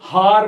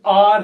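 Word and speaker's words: hour: देखिए स्टूडेंट्स, यहां पर ये हार नहीं है। बहुत बार कुछ बच्चे, कुछ स्टूडेंट्स, कुछ लोग इसे हार बोलते हैं। स्टूडेंट्स, ये हार शब्द नहीं है, ये आर है, आर। तो इसलिए जब इसको प्रोनाउंस किया जाता है तो वहां पर एच म्यूट हो जाता है, और जब एच म्यूट हो जाता है तो ओ का साउंड उभर के सामने आता है, और इस कारण से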